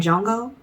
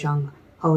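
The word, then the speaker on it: Jongho: Okay, and Jungkook, okay, I know the H is silent. That's how I heard him pronounce his name. So that's how I pronounce it. Okay, even though it looks like Jung-ho to me, it's Jungkook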